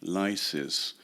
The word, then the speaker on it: Lysis: In English transliteration and pronunciation, the word for releasing would be lysis, but the name is more traditional and keeps a short U, and therefore his name in English should be Lysis.